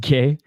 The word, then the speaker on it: gi: It's pronounced gay.